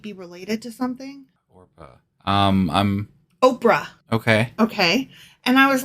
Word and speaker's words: Oprah: But people mispronounced it so often that she just continued to go by Oprah.